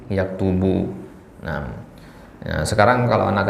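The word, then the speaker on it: يَكْتُبُ: Nah, bisa yaktabu, bisa yaktibu, bisa yaktubu, ya kan? Nah, yang benar itu adalah yaktubu.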